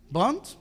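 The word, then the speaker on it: Wundt: La palabra W se pronuncia como V o como B. ¿Se acuerdan de los Volkswagen? ¿Cómo se escriben? Con W, ¿verdad? Entonces el apellido de este individuo es ¿cómo? Bond.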